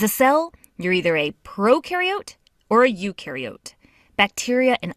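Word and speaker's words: prokaryote: Proariote the pro rhymes with no and they have no nucleus which holds the genetic material and controls a cell's activities.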